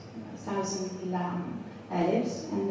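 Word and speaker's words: لا: with 1,000 letters, 1,000 lam alifs, and the lam alif is pronounced la, and la means no in Arabic, so it's 1,000 times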